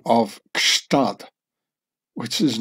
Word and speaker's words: Gstaad: over the pronouncing of Gstaad, which is not really German, and with no less than three consonants following each other up, a G, an S, and a T, Gst.